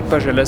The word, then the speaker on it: Pajala: Ça s'écrit Pajala, ça se dit Pajala.